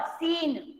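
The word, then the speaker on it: scene: Next word सीन. C ma'am C सी is silent.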